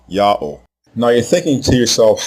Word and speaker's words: Ya'oh: All 4 of these spelling forms are pronounced the same way, Yah-oh.